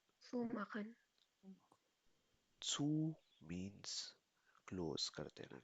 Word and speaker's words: zumachen: Pronounce it be zumachen. Sue Makhan Zu means close कर देना किसी चीज को.